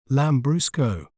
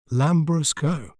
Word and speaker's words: Lambrusco: do we say its name correctly we may pronounce it as lamb Brusco lamb Brusco lamb Bru Co lamb Brusco this wine holds